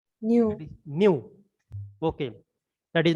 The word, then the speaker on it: mu: uh that uh v kinematic viscosity what is pronunciation new okay that is not the v that is